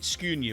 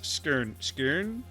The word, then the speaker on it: Skåne: wrong so oh well i've been pronouncing it scunia which is wrong it's skern something like that i'm getting it wrong well with the ground